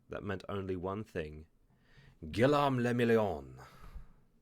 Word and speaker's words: Guillaume le Million: Guillaume le Million. If it doesn't rhyme, you're not pronouncing it right. Oh, I'm sorry. I'm Guillaume le Million.